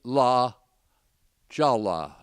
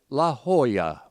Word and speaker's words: La Jolla: Some Los Angeles fine each other a dollar if they say La Jala. And some give each other a Picasso and a Goya for pronouncing it La Jolla.